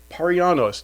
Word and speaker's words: Parianos: So, uh, first person we've got is Paranos. Did I pronounce that right?